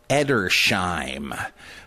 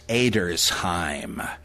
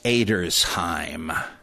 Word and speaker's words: Edersheim: Well, after I took German, I realized, no, nobody's named that. It's Edersheim. You don't have the sh that way with just an SH in German. You got to have SCH.